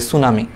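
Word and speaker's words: tsunami: ইসের মতো, সুনামির মতো, সুনামির আগে দেখবে একটা টি আছে, এটা জাপানিজ শব্দ, জাপানিজ থেকে আসছে ইংলিশে, এই জন্য সামনে টি আছে, বাট এটা আসলে উচ্চারণের সময় আমরা বলি সুনামি, ব্যাপারটা এরকম।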